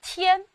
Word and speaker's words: 添: 这个字念添，它的韵母是前鼻韵母安，添加增添。